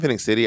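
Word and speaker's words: Phenix City: Also, there were like when I lived in Phoenix City, I lived in a white neighborhood.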